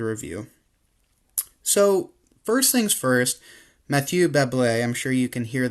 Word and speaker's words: Mathieu Bablet: So, first things first, Mathieu Bablet, I'm sure you can hear the pronunciation there.